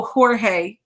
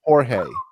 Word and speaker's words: Jorge: like behind me oh jorge jorge oh yeah that has an h sound but i definitely heard